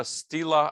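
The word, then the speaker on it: stela: a very famous uh stila i think it's pronounced stila um uh a big stone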